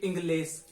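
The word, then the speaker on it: inglés: और इसको पढ़ के देखिए, इंग्लिश, ए बड़ा साउंड है, बड़ा उच्चारण है, इंग्लिश, ए, इंग्लिश, ठीक है। तो अंतिम वाला जो उच्चारण है अंतिम वाला उस पर होगा, स पर नहीं लगेगा, क्योंकि स पर नहीं लगता।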